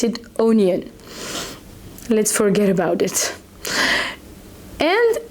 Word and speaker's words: oignon: Actually, did you see that the word onion in France is written O-I-G-N-O-N, and you pronounce it onion.